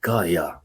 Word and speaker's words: Gaia: Python, as we say the word in Greek, was an underground creature of Gaia. Yeah, is how we pronounce the word Gaia, the original goddess of the Earth.